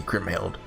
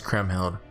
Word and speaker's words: Kriemhild: I'm saying your name right. Kriemhild? Kriemhild? I think it's Kriemhild. Oh, that's a cool sword. Her name was Kriemhild.